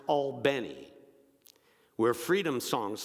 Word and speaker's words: Albany: It's pronounced Albany, where freedom songs like "We Shall Overcome," they